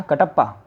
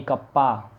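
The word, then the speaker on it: kappa: इसको प्रोनाउंस किया जाता है, ये जो सिंबल है दैट इज़ कॉल्ड कप्पा। क्या, कटप्पा, कटप्पा नहीं कप्पा, ना ही किसी के पप्पा, ये है कप्पा। जैसे इसको प्रोनाउंसिएशन करेंगे हम रो, वैसे इसको करेंगे हम कप्पा, that is called conductivity.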